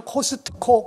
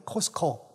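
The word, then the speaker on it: Costco: 한국분들은 코스트코 그렇게 발음하는데 티자는 발음을 안 하거든. 코스코 그러는데 거기에서 나올 때는 영수증과 물건을 비교합니다.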